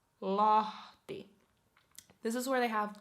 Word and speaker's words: Lahti: So we have Helsinki, Espoo, Tampere, Vantaa, Turku, Oulu, and next Lahti. Lahti, Lahti.